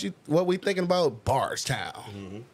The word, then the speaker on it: Bardstown: what we thinking about barst town that's how you got to say it like bars all right we out